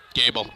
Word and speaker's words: Gable: Keeper this time, tackled right away, is going to be number 4, Gable, is it, or Goebel? Gable. Gable, that's what I thought it was, but I was running around getting a Saruji's candy bar, so I wasn't here for the pronunciations.